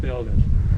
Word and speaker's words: Beograd: Belgrade in Serbian is pronounced Beograd.